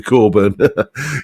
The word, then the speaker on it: Cockburn: My Pal Barry Coburn or was it cockburn hot knob before he changed the pronunciation to Coburn yes um yes that's